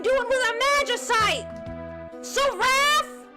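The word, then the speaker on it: Seraph: Saraph rhymes with giraffe.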